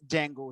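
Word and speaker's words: Django: join कोई बोलते हैं उसे डिजाइन को नहीं बोला जाता स्पेलिंग दी से स्टार्ट होते डिजाइनों की लेकिन बोलते हैं उसे जैंगो ही है बट वह चीज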